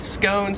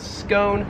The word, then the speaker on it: scone: 38 is scone, so this thing right here, we pronounce that in American English as scone, whereas in Australian English, it is pronounced scone.